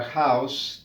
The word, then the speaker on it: house: Si escucha la pronunciación de la palabra house, tiene una H aspirada, es house, a diferencia de our, que no suena, aquí suena aspirada.